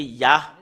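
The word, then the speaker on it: יה: Cela devient I, soit I ou I, parce que c'est AH qu'on le prononce, c'est Yah.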